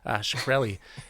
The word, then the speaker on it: Shkreli: How do you pronounce that? Shkreli.